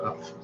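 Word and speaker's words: Hough: It's Huff. Like tough. Yeah, Like she would know enough. her last name. Look at how it's spelled. It's like tough. Huff. Enough. It's Huff.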